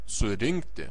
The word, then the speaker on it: surinkti: surinkti nurinkti aprinkti išrinkti the stress is is on in in parinkti surinkti nurinkti you stress the letter n nurinkti in theation in